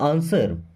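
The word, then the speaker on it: answer: आंसर, यहाँ पे W silent होता है ना, आंसर नहीं पढ़ते, आंसर।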